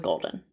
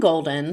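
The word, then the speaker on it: Goldyne: such an interesting name i'm not exactly sure how it's pronounced if it's golden golden or golden it's g-o-l-d-y-n-e i'm going with golden and i'm sure that's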